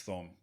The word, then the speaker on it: Thom: People call him Tom, and in situations where I would expect him to say, hey, No. my name is Thom. So it is, Well, Tom. But yeah, Tom, forgive me. spelled with the H.